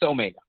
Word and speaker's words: omega: This is the d omega can also be pronounced in a different fashion. If you use internet, you will understand there are a lot of pronunciation which exists, but that is a more predominant omega, so I say it's omega.